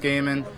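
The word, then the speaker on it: Goeman: audience um but justin last name spelled g-o-e m-a-n pronounced gaming if you ain't registered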